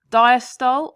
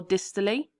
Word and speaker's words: diastole: into three stages now people pronounce this differently so I'm going to say both diastol or distally atrial systole or atrial